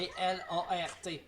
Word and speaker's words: Blart: Comment on prononce Blart. votre nom, monsieur Bart? B-L-A-R-T.